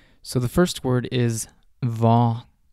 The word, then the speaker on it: hva: want to note that most of these question words start with HV, and the H in these words is silent. So the first word is va. Va.